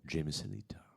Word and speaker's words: Jamie Salita: I mispronounced both of their names. Kyle Shire. There we go. Jamie Salita.